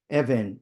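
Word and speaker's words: אבן: Evan is stone. And it's the same Hebrew letter. Sometimes it's pronounced as a B, sometimes as a V.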